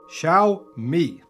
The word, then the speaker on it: Xiaomi: how you pronounce it it's shall like shaolin monk shall me okay now we got